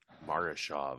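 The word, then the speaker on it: Murashov: Can you pronounce his name, Tim? Morishov. Marashov. Okay, there we go.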